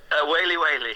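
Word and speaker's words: Waly Waly: Oh, Wally Wally, that's one of my favourites. How are we meant to say that? Whaley Whaley. Oh, Whaley Whaley.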